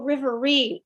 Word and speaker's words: Riverine: Oh, a Riverine. I totally butchered that. No worries, no worries. Sorry. But it's like Marine, but rivers.